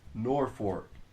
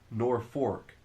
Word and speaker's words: Norfolk: I don't get what nor Norfolk. Norfork. Why? Why do you Nebraskans pronounce Norfolk? It's spelled N O R F O L K but you pronounce it Norfork.